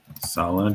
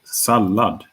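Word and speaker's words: sallad: So salad, salad is how we pronounce it. Rather similar to the English salad, but uh shorter vowel in the front.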